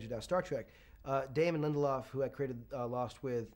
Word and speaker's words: Lindelof: show that you co-created with, is it David Lindelof? Is that how you pronounce it? Damon Lindelof, yeah.